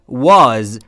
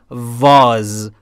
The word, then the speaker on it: was: بنابراین اگر میخواید W رو در انگلیسی درست تلفظ بکنید، لبهاتون رو حالت بوسه کنید و یا لوله ای، آها همینجوری که الان کردید، حالا باید بگید و و was. پس فرق داره با وی، یعنی نباید بگیم was، I was.